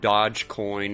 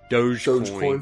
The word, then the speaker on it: Dogecoin: it dog coin and dodge coin and doge coin pro there's guys there's somebody out there that calls it dogecoin i think the correct way to say it would be doggy coin doggy coin well that